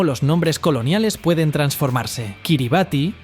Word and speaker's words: Kiribati: Kiribati es la pronunciación local de la palabra Gilbert, en referencia al capitán